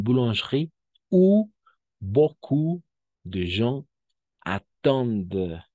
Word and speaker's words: attendent: où beaucoup de gens attendent hasta la D, porque ENT es mudo como aquí mange igual, ¿no?